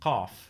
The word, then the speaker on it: qaf: Then there's qaf, as in the word قلم qalam. pen. This is like a K, but pronounced further back in your throat.